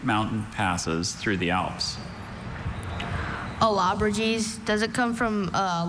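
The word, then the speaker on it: Allobroges: Alabrages.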